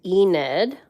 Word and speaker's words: Enid: on the spelling so this character is named ened um it is spelled like this e nid there we go